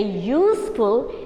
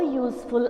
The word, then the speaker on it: useful: this very clearly here a useful item or an unuseful item a your your sound is there a useful item or